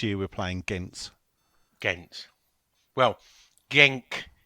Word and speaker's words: Genk: last year we played gink was it not well it's last year we played gank and this year we're playing against well genk is apparently how they pronounce him Belgium and the other one